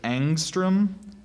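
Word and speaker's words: ångström: there any alternate pronunciations so there's angstrom angstrom and angstrom angstrom a n g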